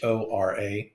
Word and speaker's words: hora: Ahora, Hora. Of course, we don't pronounce the H. It's like the word hola.